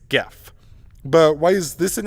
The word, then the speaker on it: GIF: Therefore, it's reasoned that since graphics has a hard G, so should GIF. But the inventor has said that it should be pronounced GIF, and he's tired of people mispronouncing it.